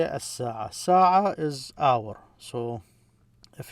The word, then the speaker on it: الساعة: If you have this definite article, you just stress the S, الساعة.